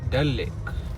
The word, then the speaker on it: डल लेक: हम जा रहे हैं डल लेक। मैं थोड़ा नाम गलत प्रोनाउंस करता हूँ तो मैंने सही कर लिया है, पहले मैं दाल लेक बोल रहा था।